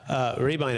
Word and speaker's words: Rehbein: We're speaking to Laura Rehbein, everybody. It's spelled Rehbein.